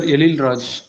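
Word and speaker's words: Ezhil Raj: Sir, Elil Raj. I am from Tamil Nadu, sir. Ezil. Elil Raj. अच्छा, Z is silent, right? Z and H Yes, is okay.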